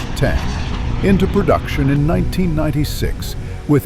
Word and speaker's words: X: when Textron put the Citation 750 or X pronounced 10 into production in 1996 with its enormous Rolls-Royce AE3.